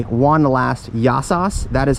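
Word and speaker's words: γεια σας: So with the beautiful background here, I will say one last yasos.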